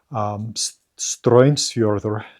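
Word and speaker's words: Straumsfjörður: There's a place they talk about, Stroinsfjordur, to use the modern Icelandic pronunciation, the Currents Fjord, which, you know, it's really hard to tell.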